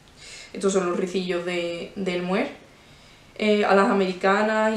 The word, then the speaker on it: mohair: digamos, estándar del francés, mohair. A saber que el mohair, la A y la I en francés se pronuncia E, entonces se pronuncia mohair, ¿vale?